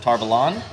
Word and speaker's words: Tar Valon: they're all going to, I pronounce it Tarvalon because I've read it and listened to the audiobooks, but now the show pronounces it Tarvalon. So I'm going to try to really stick to that.